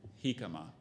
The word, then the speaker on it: jicama: is sometimes eaten raw or cooked and it's pronounced again hikama hikama h-i-c-a-m-a ikama is spelled j-i-c-a-m-a conquistador can